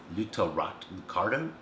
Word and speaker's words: Lucatorto: Lucatorto. Lucatorto. Lucatorto. Just pronounced just how it's spelled.